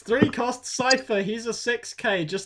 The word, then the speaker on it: Cipher: yeah next card is cipher yeah thankfully you say it right i hate when people like oh this is sifa no carry on hello